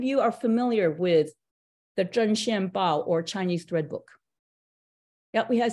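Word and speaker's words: 针线包: But Zhen Xian Bao, it's spelled Z-H-E-N.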